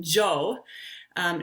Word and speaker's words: Njoo: by tanzanians you know don't try to say that just say j so so the first sound um joe j-o-o-n-j-o-o just pronounce it without that n on there that would be my recommendation so it would you would say jo that means come joe